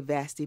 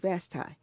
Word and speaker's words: Vasti: People say Vasti, but she pronounced it Vasti.